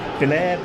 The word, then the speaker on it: Biller: Is it Biller, Byler? How do we pronounce it? It's just Biller. Biller. Yeah, there we go. So we have to sort of think it's got two L's in it.